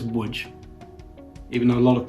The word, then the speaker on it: Łódź: let me see um you will know it as wood even though a lot of people would pronounce it LS if they don't understand